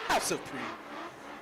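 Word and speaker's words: House of PRX: They put PRX in caps, and I thought they wanted it pronounced like that. It is pronounced House of Pre.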